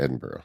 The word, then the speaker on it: Edinburgh: Edinburgh? That is how you say Edinburgh, yeah.